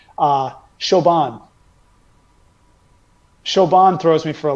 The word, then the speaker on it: Siobhan: do hear sometimes, and I do enjoy just how culturally its pronunciation differentiates from its appearance here. Siobhan. Siobhan throws me for a loop. S-I-O. You mean Siobhan? Siobhan, yes.